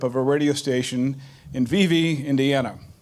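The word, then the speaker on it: Vevay: a radio station in VV Indiana it's spelled V vey but in Indiana we say V V the same way we say Versailles rather than Versailles so it's good to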